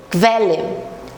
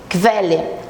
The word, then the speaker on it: Quelle: de velha e chamo logo atenção aqui para pronúncia do esse U depois do que ele tem um som de ver velha velha bem rapidinho Velha São poucas as palavras que